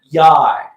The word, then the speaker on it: YY: And then it's spelled YY, and the manager for the team basically said it rhymes with high, so I'm thinking it's Yai.